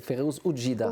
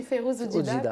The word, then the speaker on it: Férouz Oudjida: C'est Férouz Oudjida, oui, c'est comme ça qu'on le prononce. Oui, Férouz Oudjida, qui est mon coup de cœur.